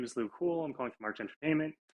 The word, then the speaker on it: Luc Houle: So it's French, but it's actually just Luc Houle.